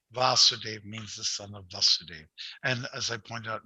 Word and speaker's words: Vasudeva: in the pronunciation okay talk about krishna we say vasudeva long a okay so it's in